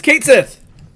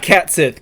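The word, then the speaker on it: Cait Sith: you don't have that Alex is going to pronounce the character from Square enix's Final Fantasy 7 for you Alex it's Kate Sith it's Kate Sith it's Kate Sith I knew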